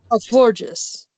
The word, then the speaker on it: Florges: Florges.